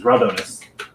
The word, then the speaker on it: Raldronis: So I'm going to constantly mispronounce that one. But as far as the lore is concerned, it is Raldronis, Okay, which frustrates the shit out of me.